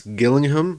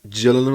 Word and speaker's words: Gillingham: Apparently, it's a g sound like when you say goat, so it's Gillingham, not Gillingham, like I was saying.